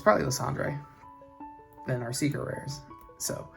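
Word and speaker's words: Lysandre: The D R E. It makes me want to say Landre. But yeah, it's probably Landre than our secret rares.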